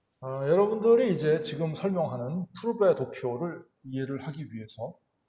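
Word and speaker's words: Pourbaix: 7의 이걸 갖다가 이제 푸르베 도표, POUR, 불어죠, 불어. 그래서 푸르베 다이어그램이라고 합니다. 이걸 이제 프랑스나 벨기에, 벨기에도 이제 프랑스어권이기 때문에 벨기에나 프랑스에서는 이걸 푸르베 도표라고 한다. 근데 이걸 이제 영국이나 미국 영미권에서는 포베이라고 이렇게 발음을 좀 이렇게 우리말로 쓰는 게 좀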